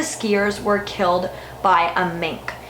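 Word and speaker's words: menk: were killed by a mink now I'm hoping pronouncing that correctly it's Emmy NK and it is basically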